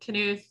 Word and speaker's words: Knuth: bit hi i'm knuth i'm the director of research computing i'll just say that even though rich does not uh pronounce the k in his name i do pronounce the k in mine which is clearly the